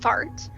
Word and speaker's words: FRT: repetitive tics which we use an acronym frt pronounced out loud as fart which is a pretty accurate